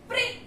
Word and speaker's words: प्री: तो प आधा प्लस री, तो क्या बन गया हमारा, प्री। अब प्री देखिए, प्री, प का उच्चारण आधा आ रहा है और री का उच्चारण पूरा आ रहा है।